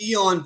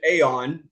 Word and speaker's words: aeon: we're talking about mispronunciations I'm going with Eon for two reasons one is the proper Cambridge pronunciation although most of the gnostics whom I know uh personally pronounce it aeon um I apologize you're